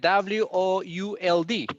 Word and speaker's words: would: for example you have you write it w-o-u-l-d right no l pronunciation we pronounce this like would let me let me